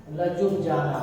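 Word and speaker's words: Ljubljana: इसका जो प्रोनाउंसिएशन होता है, वो जो लिखा है वो नहीं होता है। ठीक है, लिखा क्या है, लजुब, लजुब जाना, लजुब जाना।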